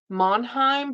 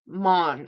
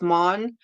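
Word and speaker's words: Maugham: I want to say Monheim, but it's Mon. I think it's Mon. It's just pronounced Mon.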